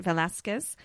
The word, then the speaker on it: Velázquez: And it's a portrait of Sebastian de Mora, painted by Diego Velázquez. Is that how you say it? Velázquez?